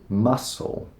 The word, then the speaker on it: muscle: Muscle. I don't have any muscles. It sounds just the same as the seafood, mussel, which actually has a better spelling.